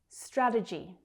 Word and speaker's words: strategy: Strategy. Again, we've got this j, j consonant sound.